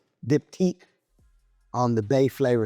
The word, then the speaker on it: Diptyque: Is it Dip-T? Dip-tique.